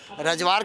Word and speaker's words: रजवार: रजवार के लोग आए हैं यहाँ, रजवार कैसे, वो प्रोनाउंसिएशन में फ़र्क है, RAJWAR।